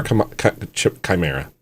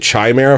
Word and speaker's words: chimera: Y'all are chimera. I've been pronouncing it chimera for a long time and finally I I looked it up. It's Chimera.